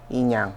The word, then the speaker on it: Inyang: you may think of once you go inang production that's where I am you see all